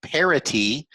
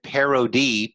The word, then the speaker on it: parity: POP is point of parity. And for those of you that said parody, P-A-R-O-D-Y, that's making fun of something.